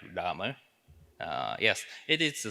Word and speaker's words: Lrama: so difficult right uh so it's pronounced like Lama uh yes it is